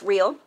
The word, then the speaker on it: Rael: These are called Rael, pronounced Rael.